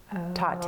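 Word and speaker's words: Tatte: And they had a shirt that helped me pronounce it because I'm like, I wonder how you say this. And it says, I love you a latte. Tate.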